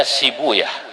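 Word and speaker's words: Sibawayh: Dalam satu lughat dibacanya Sibuyah. untuk menyesuaikan wazan. Sebab kalau pakai sibawaihuna nggak ketemu wazannya. Maka saya pakai satu lughat yang membaca sibawaih dengan sibuya.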